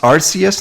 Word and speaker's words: Arceus: It's actually pronounced Arceus now, which is weird because this Pokemon has had many official names or way to pronounce that name in the past. Like I always thought it was Arceus before, and then there was an app, and in that app it was pronounced Arceus. And since then, I've always pronounced it Arceus.